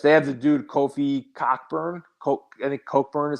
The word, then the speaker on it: Cockburn: They have the dude Kofi Cockburn. I think Cockburn is how you pronounce his name, but Cockburn is how it's spelled.